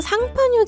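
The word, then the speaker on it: Champagne: 지난 브랜디 편에서도 언급했듯이 프랑스 상파뉴 지역에서 만든 스파클링 와인만을 법적으로 샴페인이라고 부를 수 있다고 합니다. 샴페인 자체가 프랑스어 상파뉴를 영어식으로 읽은 발음이거든요.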